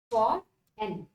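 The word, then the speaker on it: foreign: फॉर rain, फॉर rain, फॉर एन, फॉर plus एन, फॉर एन, okay. यहाँ पर जी जो है साइलेंट हो जाता है, फॉर एन, ओके।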